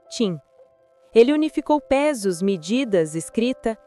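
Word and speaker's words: Qin: Quin se pronuncia tim.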